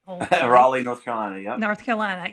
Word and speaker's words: Raleigh: Raleigh, North Carolina.